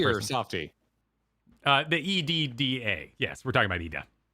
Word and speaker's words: Edda: The EDDA. Yes, we're talking about Ida. Yes, but I'm asking, is it a hardy or a softy? Oh. Is it pronounced exactly the same as Ida? It's a softie.